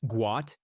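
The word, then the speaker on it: Guot: Born Got pronounced Guat, his name was mistakenly changed to Gout due to an Arabic translation error when his family relocated from Sudan to Australia.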